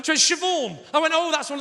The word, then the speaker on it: Siobhan: i said to her so what's your name shavon i went oh that's one of those tricky